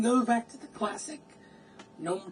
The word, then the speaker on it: GNOME: GNU in desktop environment, and GNOME, you gotta stress the G, right? You know, basically, I was happy with Debian 7. In fact, you know, and you can go back to the classic GNOME 2 look.